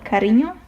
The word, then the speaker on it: cariño: And if we move on we have enye which is pronounced like the combination of n n and y in the word canyon, for example. Let me show you a Spanish word for that. Let's say cariño.